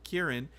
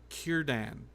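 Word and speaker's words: Ciarán: I've Been Told that you pronounce Kieran Hines with a hard C Kieran just like you pronounce Kiran the ship right with a hard sea it's not San it's not San it's Kiran and and you and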